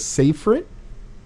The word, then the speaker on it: Safrit: December 14th so again everybody this is safer it they say it right I said it right